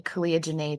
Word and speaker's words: Caliah Jinaye: can always find me Kia Jana today it rhymes for a reason but uh or my